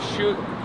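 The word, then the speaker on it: 叔叔: Shoe. Like think about Shoe. shoe. Just think about your shoes.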